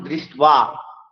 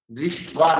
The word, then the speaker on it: দৃষ্ট্বা: যেমন দৃষ্ট্বা, দৃষ্ট্বা, দেখুন প্রথম দৃষ্ট্বা তো পাণ্ডবা নীলকম, দেখুন ভালো করে একটু খেয়াল করুন যে দ্বিতীয় শ্লোকের প্রথম চরণের প্রথম শব্দটি ধয় রিফলা মধ্যে শয়টা বফলা, এখানে কিন্তু বটা কিন্তু স্বাধীনভাবে বসেনি, বফলার উপরে বসেছে। এইরূপ বফল রূপে যেগুলো বসবে সেগুলোকে আমাদের অন্তস্থ ব মনে করতে হবে।